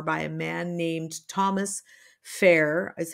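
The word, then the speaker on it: Phaer: There was a book written for parents in 1544 by a man named Thomas Fair, is how I'm pronouncing it, P-H-A-E-R.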